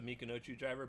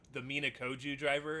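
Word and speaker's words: Michinoku Driver: Joe Tessitore, by the way, named the right move with the Mikinochu driver, but he mispronounced it because he was so excited. I want to say, I think he called it the Minakoju driver, if I remember, or something along those lines.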